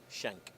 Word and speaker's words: Schenck: how do you say your last name done shank shank he's here talking about dotnet on rel